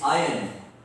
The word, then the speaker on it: iron: R is silent there, it's iron.